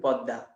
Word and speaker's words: পদ্মা: দ powerful, দ এর প্রভাবে মটাও দেখো দ হয়ে গেছে। আমরা কেউ বলি না পদ্মা, ইংরেজিতে পদ্মা লিখি, বাট বাংলায় আমরা কিন্তু উচ্চারণ করি পদ্মা, ঠিক আছে।